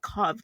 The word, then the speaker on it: Cobb: Cobb?